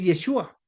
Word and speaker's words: Yeshua: Yeshua o de Jesús, pues debo decir en este canal respetamos la forma como pronuncie, pero tengo que decir claramente que en el contexto del origen es Yeshua, porque su nombre tiene